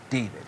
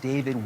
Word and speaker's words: D4vd: around the singer named David. It's pronounced David, but it's spelled with a 4.